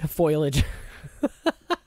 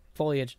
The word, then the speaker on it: foliage: flowers apparently just spoilage or foliage foilage yes foliage that's a cool mist pronunciation of that word foilage do you